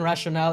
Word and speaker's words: rationale: for the Super Chat the e in rationale is silent oh sorry I'm ESL